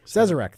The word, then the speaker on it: Sazerac: the it comes from the good folks at sirajik yeah i think that's how you pronounce it they own buffalo trace okay right which is one of your uh favorite things right out there yep cesarec thank you uh owns buffalo trucks sleeve stack